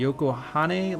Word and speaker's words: Yokohane: Anyway, so they have the C1 loop, the belt loop, Bayshore line, which is the wangan, the Yokohane line, I believe is how you say it, down to the Yokohama, and the Daikoku Futo, which is a super famous parking area.